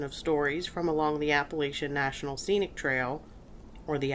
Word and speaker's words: Appalachian: was in Southwestern Virginia they say Appalachian I kind of never use the word Appalachian because I didn't want to be looked at weird because up here we say Appalachian Appalachian is the most correct way to say it either way is correct appalachin is mostly is the most accepted the Appalachian Trail is